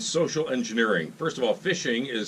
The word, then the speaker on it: phishing: engineering first of all phishing is spelled with a pH not an F correct but pronounced the same way and tell us a